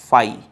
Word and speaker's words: phi: सेट is represented by फाई। Empty set is represented by फाई, ये होता है फाई का सिंबल, इसे हम कहते हैं फाई, PHI, फाई, we will pronounce it फाई।